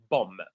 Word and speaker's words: bomb: bomb it's not bomb the last B is silent so we say bomb right handgun or a